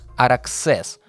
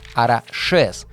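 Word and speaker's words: Araxes: Баски произносят это название не как Араксес, а как Арашес.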